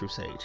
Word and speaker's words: Rustage: It's Rustage, and of course, as always, it's pronounced Rustage.